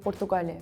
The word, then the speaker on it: Portugal: you pronounce my country when we say our country we say Portugal we say pugal and can you try